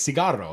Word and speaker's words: cigarro: Like one dude's like yelling at a lady, "Cigarette, cigarette," and it's like, dude, that's not how you say it. It's cigarro.